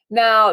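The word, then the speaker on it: Ngô: Now, the guy we support in the democracy is named No Dien Diem, so the G is silent.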